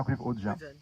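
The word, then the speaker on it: Ruwen Ogien: beaucoup aussi, qui s'appelle Ruven-Augien, on prononce comme ça, Ruven-Augien. Voilà, Ruven-Augien, qui a écrit un livre sur la liberté d'offenser.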